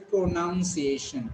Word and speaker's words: pronunciation: So it is not pro, it is pro. It is not noun, it is nunciation.